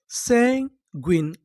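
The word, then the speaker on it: sanguine: अगर आपको इंग्लिश के किसी भी मीनिंग के आखिरी में इ लिखा मिले तो हम लोग इ का उच्चारण नहीं करते।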